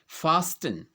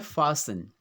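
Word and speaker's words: fasten: फास्टन, जबकि ये क्या होता है, कैसे बोला जाता है, ये होता है फासन।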